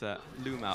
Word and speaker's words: LvMao: like a V to me, but it's LvMao.